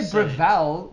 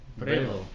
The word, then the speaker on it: Breville: When some I say- say when I some say say Breval, then at least everybody knows how to spell it. You say what? Breville.